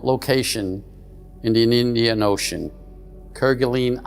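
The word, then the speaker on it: Kerguelen: Kirgalene Island, some pronounce Kergene.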